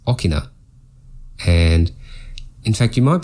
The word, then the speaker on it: 大きな: Notice that there's 2 o hiragana, so it creates a long o sound. The reason it's not answer 2 is because this is read as okina.